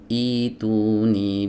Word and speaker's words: ٱئۡتُونِي: Tapi ketika kita memulai ibtidaan dari sini, dari hamzah wasal yang ada di sini, maka cara membacanya seperti ini. Ituni bi kitabim min qabli hadza.